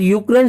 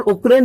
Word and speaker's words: यूक्रेन: और जो ये 3 देश थे उनके अंतर्गत रूस, बेलारूस और यूक्रेन शामिल थे। यूक्रेन और उक्रेन दोस्तों एक ही शब्द है, इनको स्पेलिंग के आधार पर उक्रेन और यूक्रेन कहा जाता है।